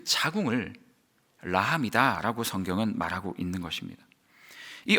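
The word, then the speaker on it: רחם: 극이라는 단어는 히브리어로이 극이라는 단어는 라함이라는 그 히브리 발음을 가지고 있어요 라함 긍휼 제가 오늘 끝날 때까지 이야기할 거니까요 라함 하면 긍휼 극하면 라함 사랑하면 긍휼 라함 하면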